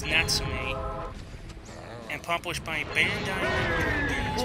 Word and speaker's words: Natsume: And that is how you pronounce it, because thanks a lot to Sergeant Frog, it's Natsume.